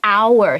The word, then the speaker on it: hour: 所以我们要用读音去判断，就像是 hour 小时那个字 HOUR，可是它的 H 不发音，所以我们会说 an hour，不会说 hour。